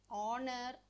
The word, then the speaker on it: honor: H is a consonant in words like our honor and honest the letter H is silent so we use the